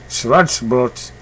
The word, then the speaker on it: Schwarzbrot: Schwarzbrot.